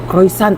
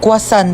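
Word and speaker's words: croissant: Croyant daw. Croisant. Ah quasant po.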